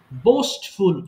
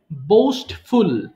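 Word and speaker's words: boastful: বোস্টফুল অহংকারী। আছে না যে না লোকটি বা ছেলেটা খুব অহংকারী। এর ইংলিশ কিন্তু বোস্টফুল। অনেকে বুস্ট বলে। উচ্চারণ হবে বোস্টফুল মানে অহংকারী।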